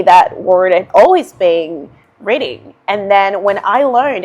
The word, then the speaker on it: Reading: So, believe it or not, this is also pronounced Reading if you're speaking about a town in England.